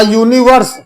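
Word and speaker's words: universe: जैसे अ बॉय, अ कैट, अ मैन, अ यूनिवर्स। ध्यान देना बच्चों, यहां पर देखिए यू, यू से स्पेलिंग करी है हमने, पर उच्चारण यू, यूनिवर्स, या का उच्चारण आ रहा है, हिंदी से मिला लीजिए,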